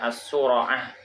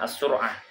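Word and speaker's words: الصُّرَعة: Maka bacanya as-sura'ah, bukan as-sur'ah.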